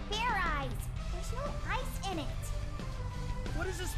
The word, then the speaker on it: Fairize: again and this time make sure you pronounce the Z all right and now